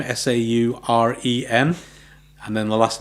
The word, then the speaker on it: Sauren: you can go through and visit and meet Sauren. That's how you pronounce it. Sauren, for those who aren't sure.